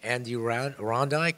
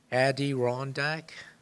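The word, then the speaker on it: Adirondack: in the mountains of Andy R rondik is that New York is that correct am I saying it correctly Addy rondak ay rondak the cold spot it's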